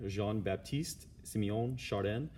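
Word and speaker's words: Jean-Baptiste-Siméon Chardin: you say his spell his name right here Jean Baptiste Simeon chardin he was born almost I was more than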